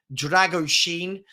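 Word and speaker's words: Drăgușin: I'm told it's pronounced Dragoshin.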